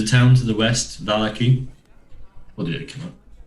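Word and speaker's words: Vallaki: For Valaki, but it's officially pronounced Valaki.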